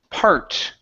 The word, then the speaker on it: part: is uh the word part okay instead of Bart of New York par part of New York part of New